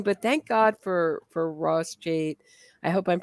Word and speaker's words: Cheit: Cheit. Yeah, Cheit. Cheit. Yeah. Well, once you do pronounce something wrong, you're really, or at least I am doomed.